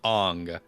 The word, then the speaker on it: Aang: Listen, this is the story of Ong. Not Aang. Yes. They were pronounced.